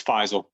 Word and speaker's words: Faisal: your first name wrong so how do i pronounce it it's faisal but i've heard it all so okay faizal